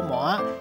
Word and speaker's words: 鰻: 过慢，生活歹过含麻饭伊嘛食袂起，有影是歹路唔通行。